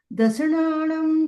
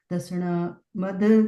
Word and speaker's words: दंसण: ये बिंदी द के ऊपर है, तो उसके बाद अपन न का प्रोनाउंसिएशन करेंगे। दंसण नाणम। ठीक है। कहाँ पे नहीं, न कहाँ पे म। दंसण नाणम। ठीक है। दसणम नहीं है वो, दंसण है ना, इतना करेक्शन।